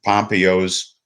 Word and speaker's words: Pompeo: It is on the second syllable.